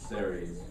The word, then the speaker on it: CERES: everybody I'm and so what is series that's how you pronounce it by the way uh it's it's